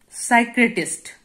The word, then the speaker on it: psychiatrist: four okay number five psychiatrist here p is silent okay peace silent you sacrificed